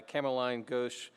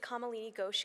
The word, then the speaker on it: Kamalini Ghosh: and this is going to be presented by cameline gauche galvarius which I hope I've pronounced correctly okay wonderful good morning my name is kamalini gosh I'm the director of clinical research at